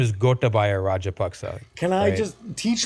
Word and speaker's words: Gotabaya: So, but his name is Gotabaya Rajapaksa.